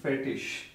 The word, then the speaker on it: fertig: few people they call it fertig, fertig or fertish, both are correct. Yeah, so mostly I will ask you to call it fertish, fertish, fertish.